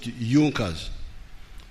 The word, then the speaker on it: Junkers: It is written Junkers, but they pronounced pronounce it Junkers.